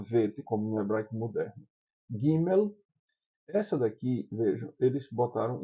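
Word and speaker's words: ג׳: Gimel, essa daqui, vejam, eles botaram um apóstrofo aqui, é porque ela é para ser pronunciada como J de jeans.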